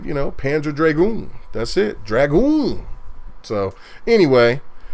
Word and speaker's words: Dragoon: So now I'm getting lit up by Rain saying it's Panzer Dragon, not Panzer.